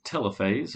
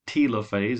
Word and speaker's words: telophase: the last phase is telophase or telophase i've heard it pronounced both ways your two daughter nuclei